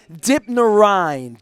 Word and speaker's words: Dipnarine: Christopher Dipnarine. Dipnarine. I thought it's Dipnarine, but that's American. Yeah, that's how the Americans say it. It's the ein that comes from.